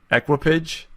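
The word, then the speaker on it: equipage: how does it say to pronounce it equipige Aqua Pidge yep all right I'm gonna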